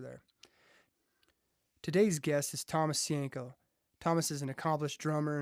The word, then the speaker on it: Sienko: That's how you pronounce it, right? Uh-huh. Okay. Sienko. Sienko.